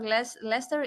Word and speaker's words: Leicester: University of Leicester in Leicester, if I say that correctly. It's written in two different ways, but the pronunciation, I know it's the same.